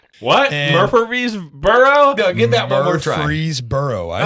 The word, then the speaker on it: Murfreesboro: in the middle of like Murfreesboro what Murfreesboro get that breeze burro I said it right